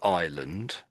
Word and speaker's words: Ireland: But they're they're both said exactly the same way.